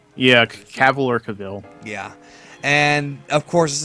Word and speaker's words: Cavill: in Metropolis and there is of course Henry caval is that how you say his name caval yeah caval or Caville yeah and of course this is clar Kent